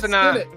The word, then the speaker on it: Senat: Is it Senat or is it Senate? Because Cliff just said Senat. All right, Cliff, get your thing right. Get it right. It's Joseph Senat.